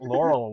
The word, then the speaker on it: Laurel: fan anymore you know lurel rhymes with coral so you know what